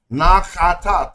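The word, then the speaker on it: Naqada: Ancient Egypt was originally founded by one indigenous Black African culture, namely the Nakta culture from down south. Namely the Nakata. Nakata. 3 syllables.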